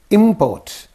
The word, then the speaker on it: import: And here you see import. Import. Import. Import. It's like that. See, these are all nouns. Nouns get stress on their first syllable, and verbs get stress on their second syllable.